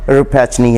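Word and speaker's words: Rappaccini: तो वो भी इटालियन ओरिजिन की स्टोरी है, तो इसलिए उसका नाम रिपैचनी है।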